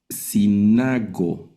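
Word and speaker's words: συνάγω: La siguiente, sinago. Y observen aquí la yil con sonido de i.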